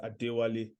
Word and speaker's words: Adewale: Nigerian of course uh the right way to pronounce my name is adewali um but again one